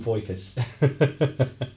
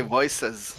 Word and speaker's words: VoicAs: one new modules from voykus voices it's actually voices they are like another voice voice ass oh yeah of